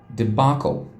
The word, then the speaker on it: debacle: this is challenging i i have never pronounced it the way it pronounced it's actually pronounced debacle debacle okay so uh